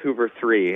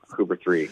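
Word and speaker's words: Hooveriii: no I had the same thing it's actually pronounced Hoover 3 and I think they may have dug themselves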